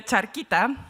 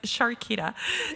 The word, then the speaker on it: Sharkita: And I've been calling her Charquita, and it was like, well, that sounds cute too, but it's Shakira.